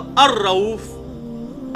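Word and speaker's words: الرؤوف: तो अल्लाह के लिए आएगा तो अर रऊफ अलिफ लाम के साथ, लाम बीच में साइलेंट हो जाता है क्योंकि रॉ आया उसके बाद।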